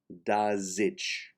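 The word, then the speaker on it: desig: finally d-e-s-i-g is pronounced da zitch and you can write it out d-a-z-i-t-c-h so to repeat slowly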